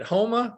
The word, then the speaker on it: Houma: And she is actually originally from, how do you say it? Houma, Louisiana? Yes.